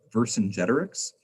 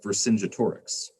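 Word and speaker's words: Vercingetorix: the person was um verse in generics and i have been pronouncing it wrong my entire life until one of my students corrected me i had been pronouncing it for sinja torix that's wrong so i learned something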